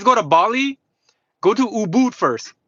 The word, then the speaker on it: Ubud: But if you guys go to Bali, go to Ubud first. It's spelled U B U D.